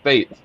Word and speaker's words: Fejt: It's pronounced Fate, like the hand of fate.